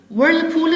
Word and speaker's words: whirlpool: Whirlpool is a noun, and of course the H letter is silent.